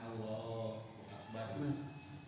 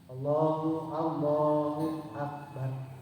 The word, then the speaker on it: Allahu Akbar: Sekarang, ya jadi Ustaz yang pas takbiratul ihram kan dipanjangkan Allahu Akbar. Terus berarti kalau yang takbir selanjutnya mah enggak harus dipanjangkan atau? Oh sama. Pengucapan pas mau ruku, pas ya. Mau sujud, betul. Maksudnya dipanjangkan juga Allahnya gitu. Ya sama. Karena kalimatnya ini secara bahasa Arab ada yang panjang dan pendek. Allahu Akbar. Gitu.